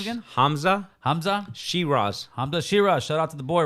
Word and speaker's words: Hamza Shiraz: That guy, how do you pronounce his name again? Hamza. Hamza. Shir. Hamza Shiraz.